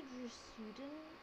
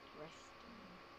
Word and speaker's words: Dresden: If it's the Dresuden, Dresuden, can I get it? I don't know how to say it. Dresden.